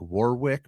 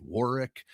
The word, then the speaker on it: Warwick: So they've got some positive stuff, but it's I did business in Warwick, Rhode Island. It's spelled like Warwick, but it's pronounced Warwick.